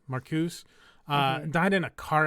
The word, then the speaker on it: Marcuse: yeah um unfortunately uh Theo Marcus I think that's how you say it it's m a r c u e maruse marcuse uh died in a